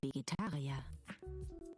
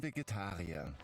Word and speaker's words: Vegetarier: Ich bin Vegetarier. I am a vegetarian. Ich bin Vegetarier. Interesting that the V is supposed to sound like an F, but they still say it like a V.